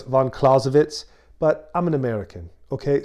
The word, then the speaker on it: Clausewitz: of caravan clausewitz yeah i said von clausewitz i know it's von klausewitz but i'm an american